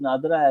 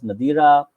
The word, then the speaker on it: Nadira: Her name is pronounced Nadra as well as Nadira. Members of her own community prefer the pronunciation Nadira, though she is generally known by the pronunciation Nadra.